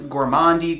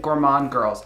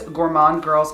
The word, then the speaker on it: Gourmande Girls: set something straight i hear people call this gourmandi gourmande gourmander like all kinds of weird variations of the